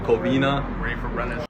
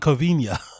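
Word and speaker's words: Covina: Even they pronounce it coina. So why is he pronouncing it covenia?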